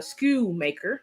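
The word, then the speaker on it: Schoonmaker: of Michigan Luke uh School maker that is how you say same school maker the end of Silent um and that was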